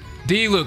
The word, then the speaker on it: Diluc: D-Luke.